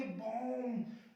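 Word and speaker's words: bomb: देखो एम के बाद में बी आया ना, क्या पढ़ेंगे, बॉम्ब, बॉम्ब।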